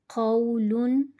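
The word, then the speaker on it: قَوْلٌ: Qaf waw zabar qaw, lam double pesh lun, qawlun. Qaf pronounced with thicker voice.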